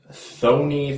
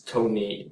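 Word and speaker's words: Thoeny: Nobody actually knows how to pronounce it, because if you change it to the English language, it would be spelled T-H-O-E-N-Y, and people used to pronounce it like Thony, stuff like that. Closest English pronunciation is Tony. Proper German pronunciation would be Tony.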